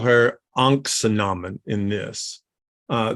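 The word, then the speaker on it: Ankhesenamun: think they call her uncle Naman in this uh the best pronunciation of that literally is in the Frasier remake which is anaksunamun which is her real name or should be her name anyway um but they give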